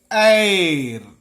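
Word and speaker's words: heir: Air, here also H silent. An air.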